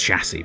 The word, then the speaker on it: chassis: It's chassis, by the way.